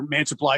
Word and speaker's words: Mantiply: Yeah, he's a pitcher, Mantiply.